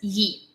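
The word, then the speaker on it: Ї: instead of one and it's pronounced as Yi and it's a symbol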